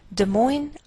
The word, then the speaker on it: Des Moines: Des Moines, Iowa. Note that we treat the name of this capital like one word, and the greater stress is on the second part, so we say Des Moines, Iowa.